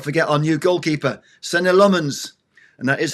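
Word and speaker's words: Senne Lammens: And let's not forget our new goalkeeper, Sen Lmens.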